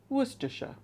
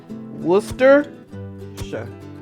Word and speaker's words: Worcestershire: with all that pointing it's pronounced worcestershire it's that simple worcester sure worcestershire shop worcestershire sauce you have to take